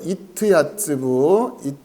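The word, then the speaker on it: יִתְיַצְּבוּ: 이트 야츠부. 자, 이트 야츠부라고 하는 거는 그 밑에 여러분 그 표를 보시면 제가 한글로 발음을 달아드렸고 그 밑에 이제 원형 이렇게 돼 있죠.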